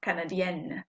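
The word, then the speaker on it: canadienne: not pronouncing the n the feminine i am pronouncing the n it's not nasal anymore canadian same idea with bones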